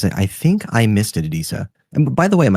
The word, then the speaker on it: Adisa: Adisa. And by the way, am I pronouncing your name correctly? Yes. Adisa.